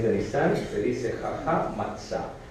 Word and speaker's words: matzah: Es matzah, pero lo pronunciamos matzó.